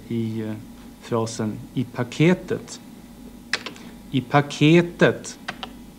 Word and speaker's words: paketet: I paketet. Här ser man att det är den tredje stavelsen där melodin förändras och där sitter accenten.